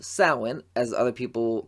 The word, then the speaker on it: Samhain: And you are also set to appear in a slasher horror comedy called Samhain, as other people call it based on how it's spelled, Samhain.